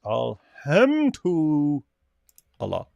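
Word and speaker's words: الحمد لله: Alham to Allah is how you pronounce it, right? It's Arabic, right? Yes. Alham to Allah.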